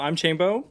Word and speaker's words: Chambo: So I'm Chambo. It's really easy to remember. It rhymes with rainbow.